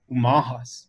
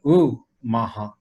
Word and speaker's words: Umaha: And so once again, I grew up with the Umahas, you know, and this is how you pronounce that tribe, with a U, not an O. So I live in the city of Omaha, but the Umaha is the people.